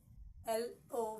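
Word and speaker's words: loch: we have here is l o c h look look look Lu is I think a synonym to Lake okay a bay b l so l o c h is sounded as Lo okay next we have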